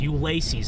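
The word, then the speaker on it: Ulysses: So yeah, if you're just tuning in, we're headed up towards Ulysus or is it how do you pronounce that? Ulac. Ulaces. Ulaces. That's it.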